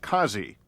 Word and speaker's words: Kansi: Tracing the weapon to a local dealer, investigators now have a suspect, a Pakistani, Mir Aimal Kansi, sometimes pronounced as Kazi.